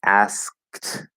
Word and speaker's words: asked: sounds together right again ignore that e because it's silent okay so it's supposed to be asked and the d is a t here because the k is voiceless it changes the ed pronunciation asked asked that's the